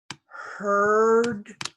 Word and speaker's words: heard: Hear, heard, heard. This EA is not pronounced. No pronunciation for EA.